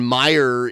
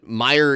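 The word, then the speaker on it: Meijer: guy who founded Meyer his name was Frederick Meyer but it's spelled m-e-i-j-e-r and he has a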